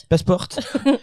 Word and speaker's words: Passport: Passport, il faut le dire à la... Non, il faut le pas. Ça se prononce à l'européenne, à la française. Ah, le GE Passport. Passport.